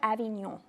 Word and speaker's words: Avignon: Eleanore of Avignon is on, so say it correctly. Eleanore of Avignon. So you got to get the very end of it proper. Yeah, you got to get up in your nose.